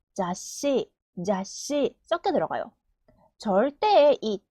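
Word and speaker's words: ざっし: 읽으면 가으 카 가까 잡지는 자으 시 자시 자시 절대는 제을 타이 제따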